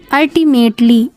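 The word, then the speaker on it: ultimately: होता है चापलूसी करना अल्टीमेटली अल्टी यू एल टी आई यहां पे ए प्रोनाउंस होगा इसका निकलेगा यू की प्रोनाउंस ए निकलेगी ठीक है यू एल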